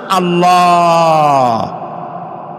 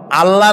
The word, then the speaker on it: আল্লাহ: কি গুণ বলেন কি গুণাবলীতে বিশ্বাস আল্লাহর নাম আল্লাহ বলেন তো আল্লাহ নয় কিন্তু আল্লাহ হচ্ছে অশুদ্ধ শুদ্ধ হচ্ছে আল্লাহ